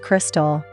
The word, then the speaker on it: KRXSTXL: Confused, the name is pronounced Crystal.